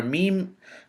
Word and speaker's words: م: and a tongue letter the letter meme on the left hand side is a letter that is pronounced from the lips it is a consonant and it is identical to the letter m in the english language mary mike master monkey